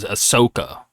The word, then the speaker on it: Ahsoka: I'm going to pronounce it because I always pronounce this wrong, but the girl, Ahsoka. I always pronounce You it said wrong.